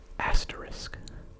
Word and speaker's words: asterisk: Asterisk. Asterisk. I will usually pronounce this as if it had an X on the end. Asterisk. Asterisk. But apparently it is just asterisk.